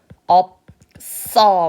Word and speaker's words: 없어: 자, 없어는 어떻게 바꿀까요? 없어. 왜냐면 시옷이 뒤로 넘어가야 되기 때문에이 친구는 쌍시옷으로 발음을 하셔야 되겠죠.